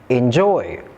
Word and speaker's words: enjoy: Did you notice the common stress pattern in these words? All these words are verbs and all of them have the stress on the second syllables. So here is a new tip to identify word stress. Stress is often placed on the second syllable in two-syllable verbs.